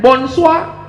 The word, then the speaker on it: bonsoir: Tulisannya Bonjour bacanya Bonjol tulisannya bonsoir bacanya Moon Sua siapa nama kamu ngomong